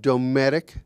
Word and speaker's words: Dometic: Marciano who's the uh new uh president of domic Americas is that have I pronounced that correctly yep absolutely dtic Americas and and uh also Dave sheets uh